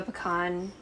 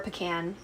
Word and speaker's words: pecan: Like, have you ever like accidentally eaten the inside of a pecan, or a pecan? You know, depending on where you live and how you say it.